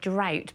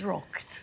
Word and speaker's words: droghte: of that somewhere I I heard you say drought but it it wasn't drought. of March. droghte Yes. One key difference with Middle English is that you tend to pronounce all the letters.